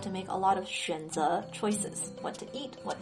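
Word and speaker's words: 选择: In the third tone, 选择 means choice or to choose. Every day you have to make a lot of 选择 choices.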